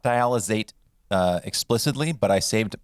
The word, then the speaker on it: dialysate: in this episode is dialysate dialysate or diala state s or z sound this one is spelled